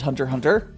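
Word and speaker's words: Hunter × Hunter: like a Hunter x Hunter is actually his Hunter Hunter you're not actually supposed to pronounce specs a lot of those Japanese names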